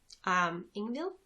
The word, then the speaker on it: Ingvild: Ingvild. I think the D is silent, and the sweater, to